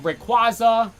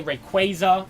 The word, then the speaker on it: Rayquaza: groomed it's ground um Rayquaza people say Rayquaza I might have used to say that one too wait kwaza Rayquaza yeah that's just I could that one's fine either one works then there's um slacking